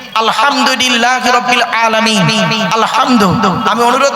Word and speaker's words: আলহামদুলিল্লাহ: বসে একটু শুদ্ধ করে কোরআন পড়ার চেষ্টা করবেন আলহামদুলিল্লাহ আলহামদু আলহামদু নয় আলহামদুলিল্লাহ এর মানে হচ্ছে সমস্ত প্রশংসা আল্লাহ তোমার আর আমরা উচ্চারণ করি কি আলহামদুলিল্লাহ এর মানে শুনবেন সমস্ত